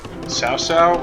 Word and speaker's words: Cao Cao: Their hero unit, Cao Cao, which is spelled cow cow, not a cow, or cocoa, not chocolate.